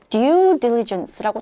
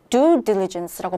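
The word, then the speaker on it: due diligence: 어려운 표현인데 이번에 나왔습니다 얘 발음이 어떻게 되냐면요 DU diligence고 딱 렇게라고 성우에 따라서 그렇게 발음을 할 수도 있겠습니다만 보통은 북미에서는 do diligence고 발음을 해요 그래서처럼 들려요 그래서 You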